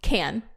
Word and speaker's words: Cannes: Cannes? Is it Cannes? I mean, we as Americans say can.